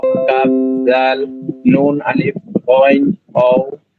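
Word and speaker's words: غين: মানে গাইন উচ্চারণটা গাইন হবে না, গই হা হবে গ থেকে, ঠিক আছে, গ থেকে গইন।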